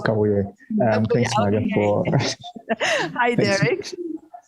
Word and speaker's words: Kabuye: Do I have Derek Kabuye? Did I pronounce, or is it Kabuye? It's Kabuye.